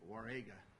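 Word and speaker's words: Jauregui: UI war and we're we're pronouncing it warga okay that's not uncommon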